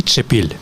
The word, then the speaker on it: Чепіль: Короче, дуже важливо наголос на і. Андрій Чепіль. Я перепрошую, я буду знати Андрій Чепіль.